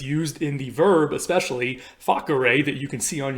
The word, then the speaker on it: facere: By the way, side note, all C's in Latin are hard C's. They always sound like a K and not an S, and that's why I'm pronouncing it facere and not facere or something like that.